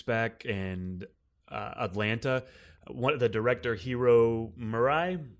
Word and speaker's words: Hiro Murai: and Atlanta, the director, Hiro Murai, I believe is how you pronounce his name, but he directs a couple of episodes of Barry, and that was really...